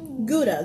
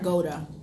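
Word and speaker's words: Gouda: the Goa GDA city am I saying it wrong is it guda or GAA I'm thinking it's GDA no it's GAA Goa yeah you're not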